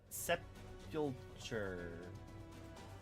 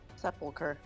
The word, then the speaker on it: sepulture: Sepulcher. There's a T. There's a T? Yes. I know what you wanted to hear, sepulcher. But it's sepulture. Sepulture. It is pronounced sepulture.